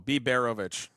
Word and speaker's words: Biberovich: Emphasis on the second syllable. B. Berovic.